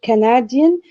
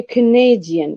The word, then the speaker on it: Canadian: we have an adjective we won't say canadian but we say canadian we say canadian so stress is shifting from the first syllable to the second for the simple reason that the first syllable has i mean lost its primary stress therefore it should be